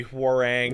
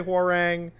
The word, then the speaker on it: Huang: It's obviously Huang and other characters talk to him and say hang. It's a Korean name. It's not hard to pronounce in English.